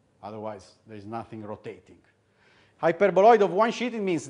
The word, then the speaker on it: hyperboloid: One sheet hyperboloid. Okay. Remember to pronounce it with a long E.